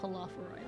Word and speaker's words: Telephoroi: No, Telephoroi. I'm not even saying it right. I'll work on it. Yeah, like Telephoroi, like telephone.